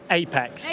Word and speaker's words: AIEX: Apex. Apex. A spelled AIEX, but we pronounce it.